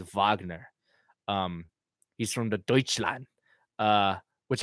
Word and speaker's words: Wagner: but mainly Mo vogner which is spelt Wagner but he's German so it's vogner he's from the Deutschland